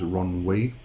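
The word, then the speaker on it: Ronwe: another name name is Ron wee uh r-o-n-w-e depending on how you want to pronounce that um all right so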